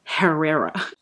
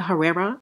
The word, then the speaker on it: Herrera: again case closed catalina i think the h is is silent right it's not herrera although i know i've said that in the past carolina herrera you sound so ignorant